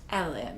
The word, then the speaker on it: Helen: Her name's Helen, but she's Scottish, so it's pronounced Ellen.